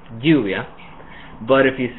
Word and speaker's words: lluvia: So the version with lluvia is a little stronger. It's actually an affricate, and it's kind of between the Y sound and the J sound in English.